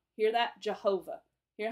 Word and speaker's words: Jehovah: In Jehovah, the accented part of the pronunciation is the ho. Jehovah. Hear that? Jehovah.